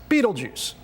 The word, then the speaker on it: Betelgeuse: DEAN: IT'S NAME IS BETELGEUSE WHICH MOST PEOPLE PRONOUNCE BEETLE JUICE (DON'T WORRY, I WON'T SAY IT A THIRD TIME).